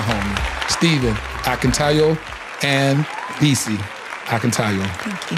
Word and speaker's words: Akintayo: He told me to say it like I'm saying.